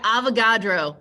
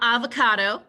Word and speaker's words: Avogadro: So yeah, Avogadro. So the way I talk, it's not avocado, but it sounds a lot like it. It's not avocado, it's Avogadro. So then instead of the